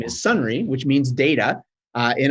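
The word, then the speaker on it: Sonrai: data actually in Irish means or in Irish pronunciation of it is sunry so the the company name is sunry which means data uh in Irish and you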